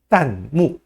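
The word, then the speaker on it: 弹幕: 할까요 예 날라가는 자막을 이렇게 얘기합니다 딴 무 라고 발음합니다 딴 뭐 딴 짜는 탈환할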